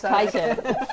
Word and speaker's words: Titan: we had an argument about Titan versus Triton. Yeah. Well, there is no argument because it's Titan.